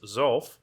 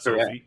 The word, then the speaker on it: Xophe: So, for the record, it is Zul and not Sophie, as I've been saying.